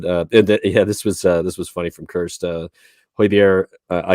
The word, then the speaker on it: Højbjerg: Højbjerg, I said it right for you, Kirst.